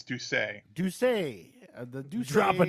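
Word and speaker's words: D'Ussé: conac which is how do you think you pronounce it that word Bill the the the name of the the conac it it's duay duay the DU drop a duay drop a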